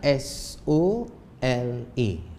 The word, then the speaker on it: sola: iaitu sola sola H ejaannya s o l a s o l a sebutannya sola sola tapi kalau abiut lain sikit disebut solo solo H Ha dia dia ada